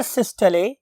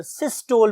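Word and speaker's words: systole: अब बहुत से लोग इसे वेंट्रिकुलर सिस्टोल भी बोलते हैं, व्हाटएवर यू वांट टू से, बट एक्चुअल प्रोनाउंसिएशन इज सिस्टले।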